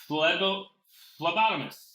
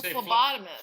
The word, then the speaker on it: phlebotomist: you what it bam i don't know if that's how you say it though i you say lego lobotomist it's a phlebotomist phlebotomist what what you